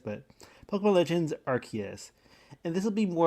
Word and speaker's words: Arceus: And I believe how like, that's how you say it. I had to look it up, and I'm going off the official overview trailer that says Arceus. I know some people say Arceus, but Pokemon Legends Arceus.